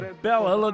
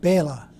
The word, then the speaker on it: Bela: Dracula, a creature conjured up by author Bram Stoker, but brought to life by Bela Lugosi. That's not right. How do you say it? Bela.